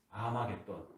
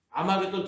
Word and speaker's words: 아마겟돈: 아마겟돈. 그것을 헬라어 음처로 발음을 하니까 머깃돈인데 이것을 헬라어로 음처로 하니까 아마겟돈이라고 하는 것입니다.